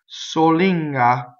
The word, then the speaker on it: solinga: Solinga, right? So pretty straightforward. Closed O. The N assimilates middle of the tongue into the ga.